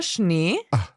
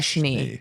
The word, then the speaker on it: Schnee: but it's just one sound, the SCH. So one example would be der Schnee.